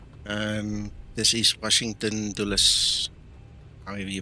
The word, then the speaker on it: Dulles: So, how do you pronounce that? Washington Dole. Uh, Dallas, it's from uh Dallas was a American politician.